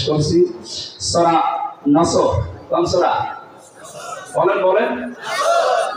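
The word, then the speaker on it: نصر: কোরআন মাহফিলে প্রবেশ করছি সূরা নসর কোন সূরা নসর বলেন বলেন নাসর নসর না নাসর নাসর নুন সোয়াদ র নাসরুন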